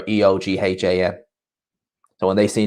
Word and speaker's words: Eoghan: And it's like it's spelled like Oghan. Whenever you see someone come like that, they're just like, that's not how you spell Owen. It's like, yeah, in Ireland they spell it like that. It's either Eoin or Eoghan.